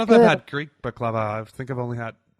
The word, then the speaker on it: baklava: How do you pronounce it there? Baklava.